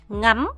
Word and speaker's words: ngắm: 생겨요 자 그다음에 여러분 이거 발음할 때 안미하더라 잘해서 짧게 응암 이렇게 발음하셔야 됩니다 보통 풍경이나 그림과 같은